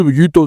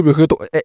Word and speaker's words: Vegeto: Y espera, espera, que ya te estoy viendo y ya estoy viendo que estás bajando los comentarios y diciéndome, "No se dice Vegito, se dice Vegeto."